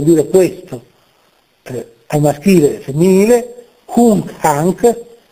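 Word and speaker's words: hunc: questo ai maschile femminile hunk hank quella n è seguito da una velare hunk hank E appunto è una N non pronunciata in maniera anteriore cono dei denti ma con il velo Palatino n velare però non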